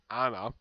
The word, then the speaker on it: Annie: gorgeous woman so well Anna yeah her name is pronounced Anna because I've heard she's actually